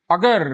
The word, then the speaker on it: a: याद रखें, प्रोनाउंसिएशन का थोड़ा सा ध्यान रखें, इसे ए नहीं बोलना है। सेंटेंस के बीच में इसका जो प्रोनाउंसिएशन होगा वो होगा अ।